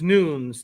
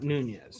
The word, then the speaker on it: Nunes: David Emperor says it's pronounced Nunes, not Nunez. Oh, thank you.